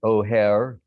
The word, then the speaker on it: O'Hare: called o'hare o comma i mean apostrophe h-a-r-e pronounced o'hare said you should go to the mayor's office